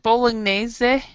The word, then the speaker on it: bolognese: And I'm glad you got is it bolognese?